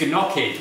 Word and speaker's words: gnocchi: did i pronounce that it's gnocchi there's a g in front of it sure okay so what